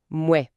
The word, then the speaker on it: mouais: C'est un son assez unique, on ajoute simplement le son « me » avant le mot « ouais ». Cela donne « mouais ».